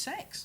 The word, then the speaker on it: CeX: if you've been to CEX and you've seen any of the prices for some of It's the pronounced sex. sex. That's pronounced sex.